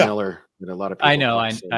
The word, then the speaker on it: Millar: the ultimates it's funny it's actually pronounced Miller with a lot of